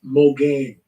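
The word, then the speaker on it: מגן: This is It's pronounced Mogain. Mogain. That's how it's pronounced.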